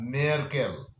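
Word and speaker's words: Merkel: যেমন জার্মান চ্যান্সেলরের নাম আঙ্গেলা মেয়ারকেল, উচ্চারণটা ঠিক মতো জানবেন।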